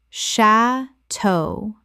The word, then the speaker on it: chateau: Correct pronunciation. Sha-toe. Two syllables with the stress on the second. From French.